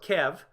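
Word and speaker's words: Kyiv: Yeah, Kiev, or Kev, as it's pronounced properly, is up in this region here.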